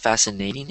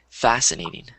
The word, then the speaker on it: fascinating: um ah yes so it's not fascinating it's fascinating fascinating uhuh so the stress on the first syllable fascinating fascinating uhhuh yeah